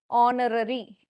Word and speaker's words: honorary: Certain words starting in H where H is silent in pronunciation. Pronounce பண்ணும்போது பாருங்க H, air, air, heiress, R, honest, honor, honorary.